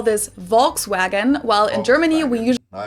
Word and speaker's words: Volkswagen: by the full name it would be pronounced Volkswagen and not Volkswagen so just imagine that it was spelled with an f and V instead FKS vagen this literally means people's